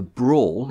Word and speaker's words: branle: A brawl is a kind of dance tune. It's spelled like Branle, but it's pronounced brawl, apparently. Nothing to do with like fighting brawl.